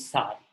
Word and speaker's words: psi: ठीक है, उसका वेव इक्वेशन को सिंबॉलिकली हम रिप्रेजेंट करते हैं in terms of पीएसआई, पी is silent, that is सार।